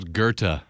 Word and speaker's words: Goethe: You don't pronounce the TH.